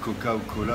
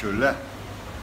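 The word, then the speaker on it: 可口可乐: Si vous dites Coca ou Cola, vous risquez de ne pas vous faire comprendre. Il faut prononcer de la façon suivante, c'est que là. Voilà. Coca-Cola se dit que là.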